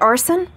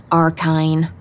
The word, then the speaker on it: Arson: Lina said, You pronounced it right. Arson. A lot of people say it wrong. Arkine. Nope. I tell them it sounds like the word arson. Like setting things on fire.